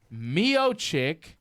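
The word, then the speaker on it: Miočić: Stipe Mioich. Yeah, like chich and chong. Oh, like a chich. It's an Italian. That's how you pronounce it. Mioich.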